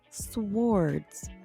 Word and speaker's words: swords: that swords? Mhm. That is the right way, huh? Mhm. I don't think I ever said the W really.